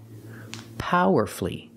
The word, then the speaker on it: powerfully: powerfully not four syllables the U is silent so we say power F because the stress is on the first syllable and you have two syllables before f u l l y powerfully example she gave a